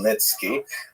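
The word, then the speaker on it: Khmelnytsky: It's actually pronounced Nitski with a guttural at the beginning.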